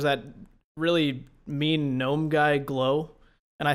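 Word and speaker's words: Glough: I think I say Gluff too because like tough. Yeah, tough, rough, Gluff.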